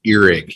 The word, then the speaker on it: earwig: my father would say the correct pronunciation is earig even though earwig does come up a lot thank you Josh you're